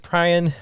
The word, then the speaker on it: Prian: His name is Prian. Welcome. Did I say it right? You did. Awesome. Yes. I mispronounced your name earlier today, and you're like, no.